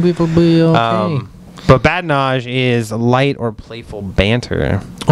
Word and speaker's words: badinage: Badinage. I like that. I like that word. It's badinage. Fun. Badinage. I like to say it like a French person.